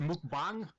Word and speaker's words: mukbang: It's pronounced mukbang.